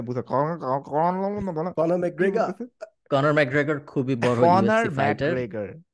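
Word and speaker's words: Conor McGregor: just হরফের মাথায় আসলো যে আপনাকে কখনো আমি কর্নার ম্যাগ্রিক নিয়ে কথা বলতে দেখি নাই আয়ারল্যান্ডের না কর্নার ম্যাগ্রেট আইল্যান্ডের ভাই আপনি ভালোভাবে প্রোনাউন্সিয়েশনটা করবেন আমি না বুঝা কর্নার ম্যাগ্রেগার কর্নার ম্যাগ্রেগার খুবই বড় ফাইটারেগার ওকে খুবই বড়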